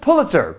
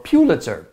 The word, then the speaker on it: Pulitzer: on the American end that would be Joseph Pulitzer or Pulitzer if you want to say it properly so